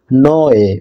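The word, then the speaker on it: Niue: এটার উচ্চারণ হয় নোয়ে, মানে এই জন্য নিউয়ে নাম দেওয়া হয়েছে।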